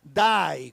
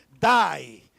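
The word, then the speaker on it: δεῖ: griega que se pronuncia Die como en como en el inglés que que alguien muere Die es d e i pero se pronuncia Die Y esa palabrita pequeñita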